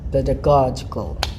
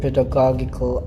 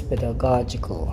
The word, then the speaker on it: pedagogical: is hard good but when the letter g is followed by e i or any variants of that sound of vowels it is pronounced as similar to the letter j something like that so i think that's the clue there pedagogical so it's pedagogical okay i'm sorry i